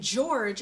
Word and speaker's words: George: puffs sounds peppa and George is actually spelled with a G but it makes the jump sound so it would be